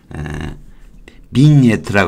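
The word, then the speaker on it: vignette: 비니에트라고 그래요. 비니에트. 지자는 발음이 안 되고, 바인은 와인하고 같은 거예요.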